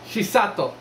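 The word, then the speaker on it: Chisato: Chi-sato. There you go. Oh, Chi-sato. Chi-sato. Okay. It's really hard to pronounce these days.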